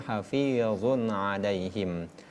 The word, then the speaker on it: حفيظ عليهم: Jadi kita ulangi kembali ayat ke-6 itu kita jelaskan kembali bahwa dalam huruf hijaiyah, huruf yang berbasis itu huruf so, za dan sa. Sedangkan huruf Allah itu tidak termasuk dalam hitungan dalam gabungan huruf yang berbasis dan bacanya hafizun alaihim.